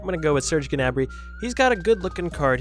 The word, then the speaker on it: Gnabry: Serge, you pronounce the G, I'm pretty sure. I'm going to go with Serge Gnabry.